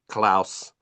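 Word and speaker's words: Klaus: um but it it's spelled k l a u s klous it's it's on Netflix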